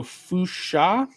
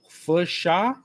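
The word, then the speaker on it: Funchal: Nasal U C H equals sh. Final I can be W, so an IPA. So fusha. Funsha? Funsha? Do you just skip the N? Is the N silent?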